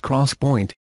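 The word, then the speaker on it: 3D XPoint: XPO IMT 3d memory pronounced cross point and implementation for customers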